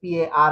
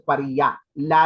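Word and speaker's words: parrilla: par par even even even if it is spelled as p a r r i l l a you cannot say it as par you have to say it as par la la there is no la la there l l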